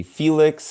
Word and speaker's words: Félix: Well, as you already know, my name is Félix. You can say Felix if Félix is too hard to pronounce.